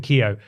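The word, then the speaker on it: Keogh: and culture researcher Brendan how would you pronounce that k e o g h k EO K there someone there was actually someone at my school whose surname was Kio okay I don't believe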